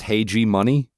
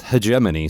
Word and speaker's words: hegemony: 90s, I have always read this word as hey G money, which is not how it's pronounced.